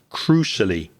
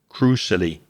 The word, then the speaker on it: crucially: of those especially crucially it's c i a l y but it's a sh like an sh sound crucially crucially and examples for B2